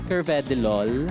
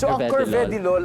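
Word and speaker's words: carvedilol: Actually, it is pronounced as Cvedilol. Curved LOLol. Yes. For everyone's din pong um information, it's Curvedy Lol ay gamot para siya.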